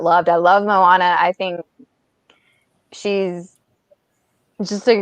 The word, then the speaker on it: Moana: I was working at the movie theater when her movie came out, and I remember a lot of people mispronouncing her name, calling her Mona or something like that.